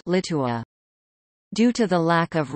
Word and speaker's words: Litua: The chronicle recorded a Latinized form of the name Lietuva, Litua, pronounced Litua.